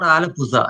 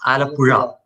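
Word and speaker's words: Alappuzha: It's not alapuza, it's alapura.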